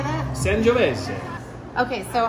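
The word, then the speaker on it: Sangiovese: San Giovese.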